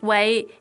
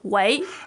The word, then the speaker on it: 喂: So the dictionary pronunciation. says way, Way, fourth. which is the fourth sound, which sounds like the word for tummy.